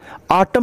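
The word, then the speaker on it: autumn: ऑटम miss होता है पतझड़, यन साइलेंट है।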